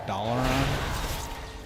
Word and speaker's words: Dalaran: It's not Dalaran, it's Dalaran.